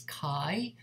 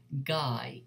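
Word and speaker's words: 階: Okay, so basically this character will be coming after a number, and depending on the number, it will be read, pronounced as kai or gai if it is an irregular.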